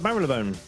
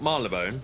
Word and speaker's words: Marylebone: Yeah, not Marylebone. Nope, it's Marylebone. So so saith the announcer on the train whenever we got close. Yeah, but they're never right. And I we're now approaching Marylebone. Oh, that's how you say it. Okay. Not Marylebone or Marylebone or Marylebone or Marylebone, but Marylebone.